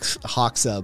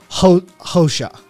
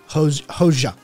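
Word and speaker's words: Hoxha: albanian dude's name hawk haksa but it's not an x it's pronounced some other letter cat'll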